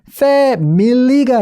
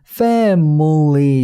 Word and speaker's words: family: 가장 좋은 게 뭐냐면 여러분들이 기억하시기에 family가 아니라 family 이렇게 발음이 된다는 거죠. 그 F-A-M-I가 이 발음이 나지 않는다는 거예요. family, mully 이런 식으로 나는 게 이 슈아가 되겠습니다.